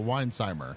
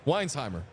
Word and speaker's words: Weinheimer: the s is or the H is silent for some reason so Weinheimer Weinheimer look I don't know